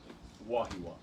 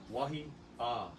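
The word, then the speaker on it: Wahiawā: So this word, almost all of us say Wahiawa, but we're missing a letter there, Yeah. Wahiawa, right? Now you don't say it that distinct. You don't stop but it is smooshed together. But there is definitely an A in there. Is there no kina? No. No. No. Okay. There's an akahako on that last A, which means you lengthen that out and kind of stretch that and kind of emphasize that. But there's an A before that.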